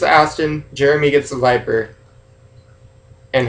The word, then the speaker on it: Aston: i say odds are i say meg it's aston jeremy gets the viper and hammond gets lfa